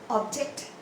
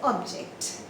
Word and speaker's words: object: Take the example of object. Object, two-syllable words. But when it is a noun, this is an object. Object. But if it is used as a verb, you say object.